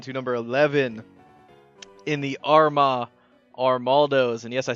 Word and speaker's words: Armaldos: But we are going to end up moving on to number 11 in the Armaldos.